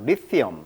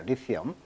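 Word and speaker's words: lithium: 근데 영어식 발음은 이제 리티엄 이렇게 발음하네요. 리티엄. 자, 리티엄. 자, 리티엄. 발음을 좀 조심하시고요. 영어식 발음은 리튬은 한국식 발음, 영어식 발음은 강세가 이음절이 있습니다. 그래서 리티엄 이렇게 발음하고 있습니다. 리티엄.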